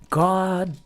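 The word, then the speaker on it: Gawdat: There's this phenomenal fellow I believe his name is Godat. That's how you pronounce it.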